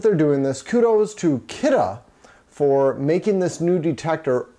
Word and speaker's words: Kidde: So the new detector by Kidde, and it's spelled K-I-D-D-E. It's pronounced Kidde, not Kitty.